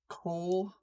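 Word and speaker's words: Kol: Cole. Yes, but it's not gonna be spelled like Cole as in C-O-L-E or C-O-L. No, it's gonna be the Nordic version of K-O-L as in dark.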